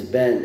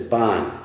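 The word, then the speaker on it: בן: This name is Ben, is pronounced by the Sfardim.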